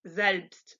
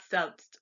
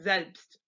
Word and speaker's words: selbst: So if you see SIE, that's actually Z or selbst, not C, not selbst, but Z and selbst.